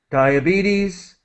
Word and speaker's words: diabetes: Again, Dia, diabetes. BTs. Diabetes. With EE. Diabetes.